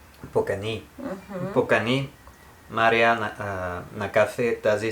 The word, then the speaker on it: Покани: The way you read it, this would mean you invited. Покани, last syllable. Покани.